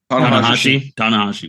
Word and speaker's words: Tanahashi: Jacob, do you know how to pronounce his last name right? Tanahashi.